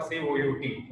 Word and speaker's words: cout: So either you pronounce it as Cout or Cout.